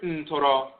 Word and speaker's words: Ntoro: This is based upon the major Ntoro and Ntorot, mispronounced Neter and Netert, but Ntorot, the major god and goddess divinities who govern these resins in a specific capacity.